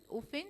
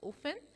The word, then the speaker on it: often: percent ninety percent open often the t is silent often okay um certain okay